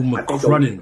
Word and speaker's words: McCrudden: saying the name wrong. It's Michael McCrudden.